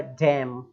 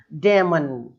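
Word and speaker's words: damn: और देख लेते हैं क्या लिखा हुआ है, डैम, डैम धिक्कारना किसी को, डेमन, डामेन, अरे भाई पूरी पूरी स्पेलिंग, एक चीज नहीं छोड़ेंगे, हिंदुस्तानी है ना जुगाड़ू, बिल्कुल एक चीज नहीं छोड़ेंगे।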